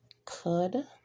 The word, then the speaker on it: could: the K being silent could the L is silent here walk the L